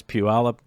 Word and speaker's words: Puyallup: So, Bentley says, my favorite thing when I worked in flooring was listening to people outside of Washington try to pronounce Puyallup.